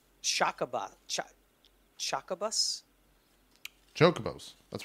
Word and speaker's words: chocobo: about chuck chucka bus chocobos that's right okay yeah yeah okay it's all right no one no one pronounces it correctly on the first time some Irish people even say choco bows so you know Jacques